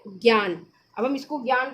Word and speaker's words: ज्ञान: ठीक है, तो ज्ञान में आपका होगा जा। ठीक है, जा और प्लस ज्ञान। जरा ध्यान से उसको उच्चारण लीजिए। जो हम लोग की ये जो हिंदी भाषा है ध्वनि, ध्वनि पे डिपेंड करती है। तो ये आपका होगा जा, जा और इया।